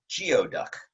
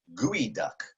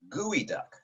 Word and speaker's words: geoduck: have read this as geoduck and you would be incorrect the way you pronounce that creature's name is gooey duck gooey duck now you might think